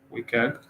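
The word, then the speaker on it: WCAG: web content accessibility guideline which is wicker that's how i pronounce it that there might be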